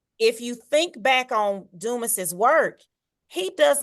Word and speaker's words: Dumas: Dumas, yeah, Dumas without the S sound.